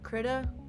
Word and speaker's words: Krita: one, which is called Krita. I think it's actually pronounced Krita.